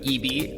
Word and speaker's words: ibi: When we return on Tech It Out after this short break, we're going to continue learning about EB. Again, it's spelled IBI.